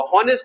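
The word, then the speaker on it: honest: तो यहां पे आप एच साइलेंट कर लीजिए। ऑनेस्ट में एच साइलेंट कर लीजिए। एच साइलेंट करेंगे तो ओ से साउंड प्रोड्यूस होगा। यहां पे ऑनेस्ट में ना आगे एच से होगा। ऑनेस्ट नहीं होता है। ऑनेस्ट होता है।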